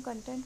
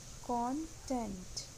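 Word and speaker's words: content: इसको नॉर्मली हम कंटेंट बोलते हैं बट इट इज़ not right, ये है कॉन्टेंट। इसका सही प्रोनाउंसिएशन है कॉन्टेंट।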